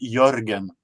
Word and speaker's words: Jörgen: We have a letter with O with the 2 dots on the top. So it's Gotcha. normally it is a Swedish version of Jürgen, but it is pronounced Jörgen.